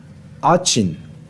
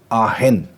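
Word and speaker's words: Aachen: अगर आप इंग्लिश में इसको प्रोनाउंस करो तो वो आचिन है, लेकिन अगर ये जर्मन का वर्ड है दोस्तों, ये फ्रॉम जर्मन लैंग्वेज, अगर जर्मनी में इसको अगर आप जर्मन में अगर आप इसको प्रोनाउंस करोगे तो वो आहेन, आहेन। और लेकिन हम क्योंकि इंग्लिश में पढ़ रहे तो हमें आचिन ही पढ़ना चाहिए।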